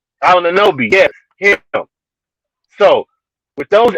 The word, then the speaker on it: Anunoby: Ananobi. Anunoby, yes, him.